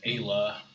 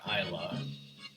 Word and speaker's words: Ayla: It says it's pronounced Ayla, not Isla.